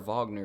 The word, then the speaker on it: Wagner: way cuz it's yeah my my friend's family's German and they say Vagner so even if they're wrong I'll say that until another German corrects me it's like playing